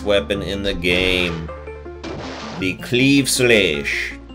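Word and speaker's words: Claimh Solais: in the game be Cleve soonish that's right that's how it's pronounced I looked it up look at those stats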